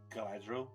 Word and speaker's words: Galadriel: I always pronounce her name wrong. Is it Galadriel? Glad? Yeah, so Galadriel.